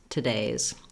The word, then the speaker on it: today's: today's meeting, today's topic, you can hear how there's almost no vowel at all in that first syllable. Any vowel there is this little schwa sound, this little sound.